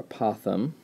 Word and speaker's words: apothem: in these problems is this word here apothem or apothem different pronunciations you'll hear and what that is